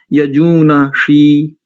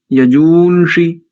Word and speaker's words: यजूᳫंषि: ऐसे ही अनेकों स्थानों पर यजूनषी, यजूनषी, यस्मिन्ना प्रतिष्ठिता, ऐसे नहीं, यजूंषि, यस्मिन प्रतिष्ठिता इत्यादि।